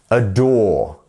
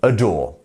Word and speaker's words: adore: today there we go it's almost like you're saying a door as one word so aore aore there we go